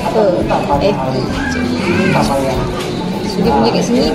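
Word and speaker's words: phở: Actually, walaupun ejaan dia PHO, dia bukan pole, dia fur.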